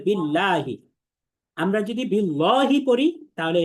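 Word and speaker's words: بالله: আচ্ছা, এরপরে খেয়াল করেন, পরের যে শব্দটা আছে বিল্লাহি, এখানে আমাদের আল্লাহ শব্দের লামটাকে পাতলা করে পড়তে হবে, বিল্লাহি।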